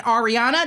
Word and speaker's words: Ariana: I am so glad to have in Ariana.